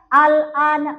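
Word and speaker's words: آلْآنَ: Jadi dipanjangin dulu baru tempel ke lam. Nggak boleh langsung baca al-ana, nggak boleh. Tapi bacanya dipanjangkan dulu a-nya. Setelah panjang 6 harokat, baru lanjut.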